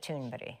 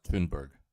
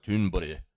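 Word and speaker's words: Thunberg: That's not even how her name's pronounced. I Well, I thought it was like Tunberg. I thought it was just simple like Tunberg, but she's like Tunbury.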